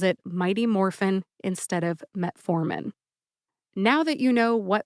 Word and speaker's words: metformin: and you get metformin emphasize the second syllable for metformin metformin let's move on